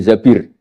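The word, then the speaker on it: الزبير: Kemudian saya nikah sama Abdurrahman bin Zabir. Di hadis ini bukan bacanya bukan Zubair, tapi Zabir.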